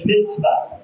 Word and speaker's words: mitzvah: The word for commandment is a mitzvah. जो अबरानी में हुक्मों के लिए लफ्ज़ इस्तेमाल मिtzvah है। It's spelled M-I-T-Z-V-A-H.